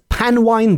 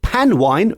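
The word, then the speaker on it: panwan: to quote it is pan wine days with him with pan wine being spelled p a n w a n and I hope pronouncing that correctly but it is pan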